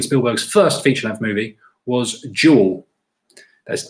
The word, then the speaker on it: Duel: first feature-length movie was Duel. That's D-U-E-L. As I can't pronounce it. It sounds like I'm saying a jewel, but it's Duel with a D, not a J.